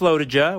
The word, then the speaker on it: LoToJa: of lotija lotija lotija maybe we should have clarified that with brent how to pronounce the race's name pretty sure it's low to ja we're grateful for brent